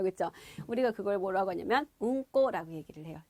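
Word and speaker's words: うんこ: 우리가 그걸 뭐라고 하냐면 응꼬라고 얘기를 해요.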